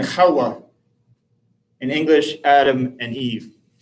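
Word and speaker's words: חוה: In the Hebrew it's Adam and Kawwa.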